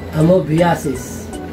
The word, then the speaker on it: amoebiasis: Amoebiasis. No, most people pronounce this as amoebiasis. Amoebiasis. But that's actually incorrect. The correct pronunciation is amoebiasis.